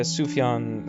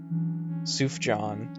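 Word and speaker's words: Sufjan: that's obviously not corre I lived I lived for years pronouncing sufan Stevens's name as suf John in my head uh and then I heard someone say it and I went oh yeah that yeah that makes sense just for completion Track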